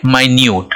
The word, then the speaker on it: minute: दूसरा है MINUTE, इसको बोलेंगे माइन्यूट, राइट। तो स्पेलिंग अब सेम हो गया, साउंड बदल गया, राइट।